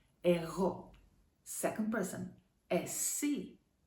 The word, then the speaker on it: εσύ: Second person, εσύ. Stress, εσύ. This letter that looks like a U, remember, it's Y. It's pronounced like E most of the times.